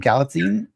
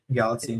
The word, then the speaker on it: Galitzine: Um, and Nicholas, I can't pronounce his last name. Katine. Galatine.